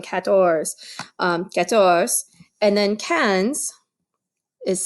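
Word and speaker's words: quinze: is me going quatorze get source and then cans is spelled like this q UI n Z e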